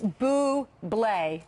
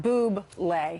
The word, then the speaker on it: Bublé: It's Bublé. It's not Boob-lay.